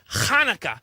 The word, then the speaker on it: Hanukkah: uh actually Telly um it's pronounced khaka you know with with more of a h like that no more more in the back of the throat actually boys either way